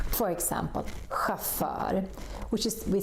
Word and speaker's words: chauffeur: There are not so many, but some of them are also pronounced with this sound. For example, chauffeur, which is, we say,